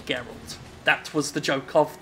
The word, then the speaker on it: Geralt: The controversial Destructoid video review of The Witcher 3 where my good friend Jonathan Holmes pronounced his name as Gerald rather than Geralt.